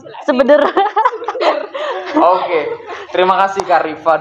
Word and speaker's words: SBDRR: Kalau disingkat itu. Iya. Pelafalannya Sebeder.